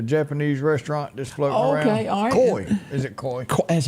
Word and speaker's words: koi: like at the Japanese restaurant just floating around koi is it koi that's how you pronounce it yeah flat head minners them little